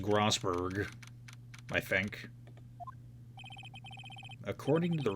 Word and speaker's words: Grossberg: just go back grossberg yes I know it's pronounced grossberg I think according to the receptionists the big